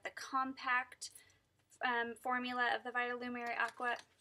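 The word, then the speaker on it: Vitalumière Aqua: also picked up the compact formula of the Vitalumiere Aqua. Vitalumiere Aqua.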